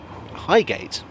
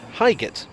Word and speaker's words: Highgate: of the others though highgate is usually pronounced highgate however on the tube announcements it's pronounced highget and i've come across